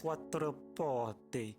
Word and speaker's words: Quattroporte: It's Quattroporte.